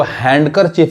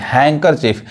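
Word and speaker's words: handkerchief: होता है यहां देखिए इसको हैंड करर चीफ नहीं हैकर चीफ यानी यहां पे डी क्या होता है साइलेंट होता है अब यहां देखिए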